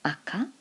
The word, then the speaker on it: 赤: as a noun on its own then it's pronounced AKA so that would be a thing as in